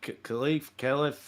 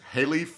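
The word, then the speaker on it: Khelif: Iman Khalif, however you say her name. I think it's Halif, but yeah, I think K is silent.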